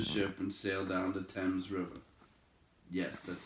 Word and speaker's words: Thames: they boarded a ship and sailed down to thames river yes that's how you pronounce it before they reached the open sea